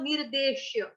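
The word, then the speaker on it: निर्देश्यम्: निर्देशम, निर्देशम, यम, यम, मैंने आपको 'यम' का उच्चारण कैसे करने को कहा था? जैसे हम कहते हैं कि खाना बहुत स्वादिष्ट है। तो 'यम्मी' में क्या होता है? य-उ-म-म-य, म-म, एक दोहरा 'म' आता है।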